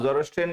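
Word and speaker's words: Zoroastrian: अब जोरोस्ट्रियन को सीखना है तो कैसे, जोरो, ठीक है, एक हो गया, और एस्ट्रियन, ये 2 यूनिट्स में आप इसको ध्यान रखिए। तो मुझे लगता है फिर इसकी स्पेलिंग गलत नहीं होगी। एक तो हो गया जोरो, तो उससे थोड़ा प्रोनाउंसिएशन भी करेक्ट हो जाएगा, जोरोस्ट्रियन, ये सही स्पेलिंग।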